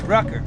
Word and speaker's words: Rucker: My name's Rucker, rhymes with trucker.